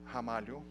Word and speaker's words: Ramalho: slash hamari oh so my last name you pronounce as if it started with an age Hamal and support in Portuguese that's how we pronounce they are in the beginning of our word so that's that's where